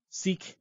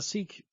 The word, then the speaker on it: Sikh: religious token because the Sikh people, I don't know why it's pronounced that way when it's spelled S-I-K-H, but it's because it's a foreign language.